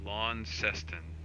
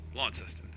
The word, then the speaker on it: Launceston: never seen before and i'm attempting and failing to pronounce to uh lon seston launceston okay thanks debbie thanks for helping me out he's flying lawn testing